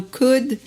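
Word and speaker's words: could: dit ça c'est dit le elle ne se prononcent pas comme dans code wood chaude away à nouveau s'il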